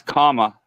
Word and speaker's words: Kamala: Well, her name is Kamala. And so you remember like the punctuation, and comma.